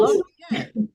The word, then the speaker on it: Laryea: pronounced, is it pronounced Laryea? Laryea. Laurier. Laurier. I was way, way off. Okay, No, Laurier.